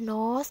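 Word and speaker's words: gnaw: quickly လျှင်မြန်စွာပြေးတယ်တဲ့နောက်အခုကnor things အဲ့ဒီမှာခြေရူ G ရ silent letter ပါ nor ပဲထွက်မယ်နော် nor things nor things ဆိုတာက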